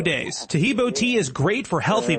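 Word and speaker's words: Taheebo: Tahibo is spelled T like Tom, AHEEB like boy. Oh, that's Tahibo, and then continue with the word tea, and then the word club.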